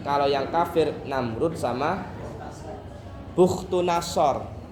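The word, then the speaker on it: بختنصر: Kalau yang kafir Namrud sama Bukhtunasor. Ada yang bacanya Bakhtunasor. Bukhtunasor.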